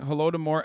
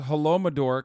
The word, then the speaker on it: Holodomor: Plus, he's still pronouncing Holodomor as Holomador.